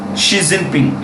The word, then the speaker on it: Xi Jinping: Xi Jinping. It's pronounced Xi, S-G.